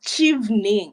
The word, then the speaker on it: Chevening: First of all, am I pronouncing it right? Is it Chevening or Chevening? Okay, it's Chevening.